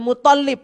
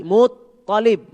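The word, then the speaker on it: المطلب: Misalkan kakeknya Nabi tadi bukan Abdul Muttalib tapi Muttalib.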